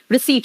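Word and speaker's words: receipt: रिसीट का spelling wrong है, और P यहां पे साइलेंट, याद रखना। रिसीट, very good, single boy, समझ में आता है आप लोग को, याद रहता है, चलो अच्छी बात है।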